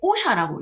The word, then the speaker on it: OSHA: 여기서는 그냥 OSHA만 기억을 하시면 되는데 이게 OSHA라고 읽어요.